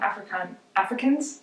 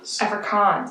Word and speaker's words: Afrikaans: saying her mother tongue Africans? Am I saying it wrong? I'm gonna get canceled for saying it wrong. Afrikaans. I apologize, Afrikaans.